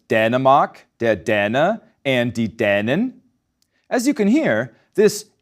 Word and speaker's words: Dänin: Ein Mann aus Dänemark ist der Däne und eine Frau ist die Dänin.